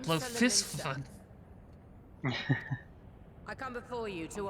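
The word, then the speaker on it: Bloefhiswyn: Oh, that's how you pronounce that, Blofisvin. I come before you to I always offer pronounce it my Blowfishwin.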